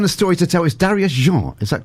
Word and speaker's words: Darius Jean: story to tell is Darius je is that correct pronunciation indeed it's French it is French who